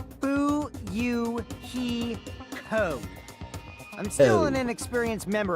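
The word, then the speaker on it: Fuyuhiko: My first name is pronounced boo he co.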